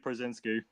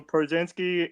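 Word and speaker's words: Pierzynski: I'm gonna go catcher on this one, and I'm gonna go AJ Przinsky.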